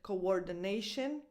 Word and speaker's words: coordination: And the same happens in the word coordination. So in this one, coordination, the second O has a slightly smaller sound.